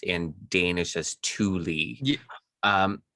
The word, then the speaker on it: Thule: pronounced in danish as thule um how is it pronounced in german tula chula tula okay that's close to danish i've heard it pronounced